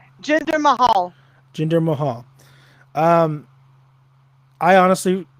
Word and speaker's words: Jinder Mahal: Jinder Mahal.